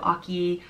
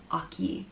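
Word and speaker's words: Eochaidh: I think some people could pronounce it Oka instead of Oki or Okwidge. And I think, again, that's just depending on where in Ireland you're from. And so I'm just gonna go for the simple Oki.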